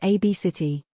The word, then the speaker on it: Abgt: Abgt pronounced AB City.